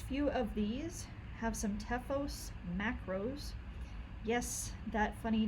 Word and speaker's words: Teuchos: of these have some tephos macros yes that funny name there t-e-u-c-h-o-s it is pronounced tefos as if there's an F in the middle of it that's our tools package